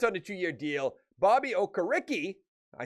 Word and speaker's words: Okereke: Bobby Okereke, I said it right that time, 4-year deal.